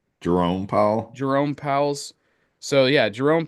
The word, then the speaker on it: Jerome Powell: How do you pronounce this man's name again? Jeremy Powell. Jerome Powell.